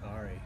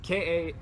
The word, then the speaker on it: Kaare: I don't know how to say his name. Carrie Andrews. I always pronounce it Kari. Yeah, Kaare.